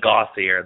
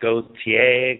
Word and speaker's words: Gauthier: All right, so this is a French name, but in the United States, most people call it Gauthier. That's what I was raised saying. That's how I referred to it, but it's pronounced Gauthier, Gauthier, all sorts of different fun spins on that one.